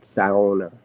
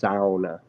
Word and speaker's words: sauna: It's not sauna. It's not sauna. It's sauna.